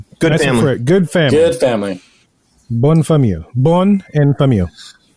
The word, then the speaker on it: Bonne famille: closed, and called, and once again, here's another pronunciation, Bonne famille. What does it mean? Good family. Good family. Good family. Bonne famille.